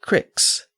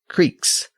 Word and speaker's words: cricks: He wrote, quote, "The bay where he dwelleth hath in it 3 cricks," end quote. And it's worth noting that he referred to them as cricks, C-R-I-C-K-S, not creeks.